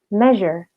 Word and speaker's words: measure: Oke, jadi huruf R-nya itu nggak dibaca terlalu tebal ya, tapi agak tipis aja. Kemudian huruf S-nya itu dibacanya seperti huruf Z, gitu. Oke, kemudian untuk versi British-nya, untuk tunggalnya seperti ini. Measure, measure. Sedangkan untuk jamaknya seperti ini. Measures, measures. Seperti itu ya, jadi sama-sama S-nya jadi seperti huruf Z, tapi kalau British style ini huruf R-nya hilang gitu ya, hilang sama sekali.